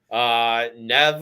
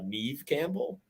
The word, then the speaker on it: Neve Campbell: Nev, or as I'm hearing now that we've been pronouncing wrong all these years, Neve Campbell.